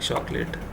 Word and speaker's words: chocolat: Now you need to understand that in French they do not cannot pronounce ch, so it's pronounced as sh. So it's going to be nous n'aimons pas de chocolat.